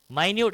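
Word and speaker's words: minute: हो, माइन्यूट living beings, माइन्यूट, अच्छा मिनट मत पढ़ना उसको, माइन्यूट है, स्पेलिंग भले ही दोनों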